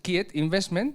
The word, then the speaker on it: Quiet Investment: Esto se ha pronunciado así en inglés, que es Quiet Investment, ¿no? Lo pronuncias Quiet Investment, ¿no? Como en inglés.